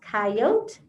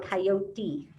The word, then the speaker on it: coyote: you coyote can breathe can be pronounced coyote or coyote so you could call it a coyote or you could call it a coyote either way is correct clumsy coyote said i'll